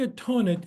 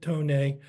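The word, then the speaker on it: Thonet: you would pronounce it Tonnet. But if you're in Germany, where there isn't the TH is pronounced more as a T and an H separately, this is how I was told to pronounce it.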